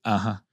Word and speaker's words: 8h8: Fait que pour dire oui, tu vas dire, ça s'écrit 8H8 qui va se prononcer an.